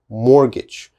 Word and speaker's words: mortgage: carefully mortgage mortgage mortgage which letters i don't pronounce well this e if i said morgag the e is necessary for the a the long a mortgage so this is important mortgage but this t is not important okay mortgage mortgage never never say mortgage that is definitely wrong it is always mortgage mortgage all right and the